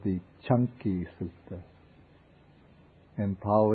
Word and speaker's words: Canki: this is called the chunky Sut in po the C it's pronounced like CH and this sutta is